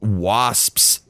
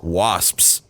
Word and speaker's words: wasps: not Latin all right wasps is so much like extra it's like a whole nother syllable that's not supposed to be there it's a one syllable word that you have to say in two syllables wasps wasps yeah you're